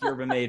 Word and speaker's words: yerba mate: I think Yerba Mate is absolutely the correct pronunciation there.